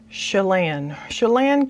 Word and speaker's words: Chelan: I put a little note, pronounce it soft, S like in shoe, lan rhymes with can, so I guess it's Chelan County, Washington.